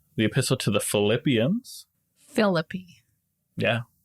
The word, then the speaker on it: Philippi: A lot of people pronounce it Philippi, and that just doesn't feel right. I'm trying to think of other Greek cities that end in an I. And I can only think of, well, this is Italian, Pompeii. Right. Which... No, an I at the end of the word is not pronounced I. It's E.